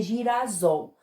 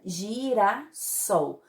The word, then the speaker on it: girassol: tá no meio de duas vogais então ficaria girassol para fazer adaptação para pronúncia correta então coloca aqui mais um é se fica se e fica girassol mesmo assim substantivo composto formado da palavra gira